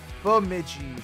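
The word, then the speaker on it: Bemidji: Bidi common mis uh b miji. Bamiji. Bamiji. Okay. Chokio common pronounce shokio.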